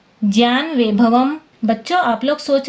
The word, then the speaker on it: ज्ञान: इस नियम के अनुसार इसका शुद्ध उच्चारण ज्य JYA जैसा होगा।